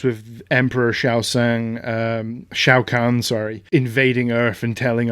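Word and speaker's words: Shao Kahn: basically it starts with emperor xiao seong um shao khan sorry invading earth and telling our heroes the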